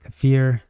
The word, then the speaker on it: kefir: the list of foods to eat and drink kefir or kefir however you want to pronounce it so we're still doing one cup